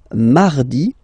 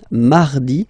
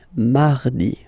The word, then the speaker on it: mardi: Then mardi, mardi. So you can hear that you don't pronounce it that strongly, this R. Huh? Mardi, mardi, okay? You don't need to go too deep like mardi.